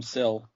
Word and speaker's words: SIL: And that apparently is pronounced Sill.